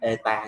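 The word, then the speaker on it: η: Cái chữ hiệu suất, cái chữ N có cái ru dài này ha, thì đọc là eta nha mấy em.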